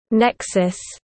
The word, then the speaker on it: NECSS: The Northeast Conference on Science and Skepticism (NECSS), pronounced as Nexus, is a four-day conference focusing on science and skepticism held annually in New York City.